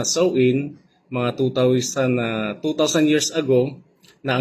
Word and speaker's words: Samhain: Ang Halloween ay nagmula sa ancians Celtic Festival na tinatawag na Samhain. Okay. Binibigkas na so in mga 2000 years ago na ang nakalipas na sa bansang Ireland, Scotland at England.